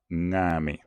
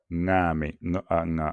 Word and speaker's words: ngame: En fait, c'est comme si on disait, c'est comme si on prononçait la terminaison du mot marketing ou le mot camping. Donc ça va être ng, ngame, ngame, qui signifie inondation.